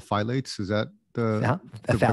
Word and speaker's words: phthalates: on and they're called i think they're called phylates is that the yeah pronunciation phthalates and she was talking about you know when